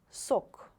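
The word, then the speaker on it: сок: Sok, sok. Be careful, please. The first sound is s, not k, according to rule of pronunciation in English language, for example, right? It's s, sok, sok.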